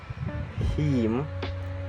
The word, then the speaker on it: hymn: So example like this: damn, autumn, hymn, and column.